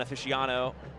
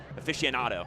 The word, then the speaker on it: aficionado: just a league one aficiono Aficionado there you go get all the syllables in there people have